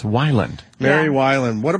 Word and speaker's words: Weiland: baylin's way lot or sometimes violent but it's Wyland mary while and what a pleasure man i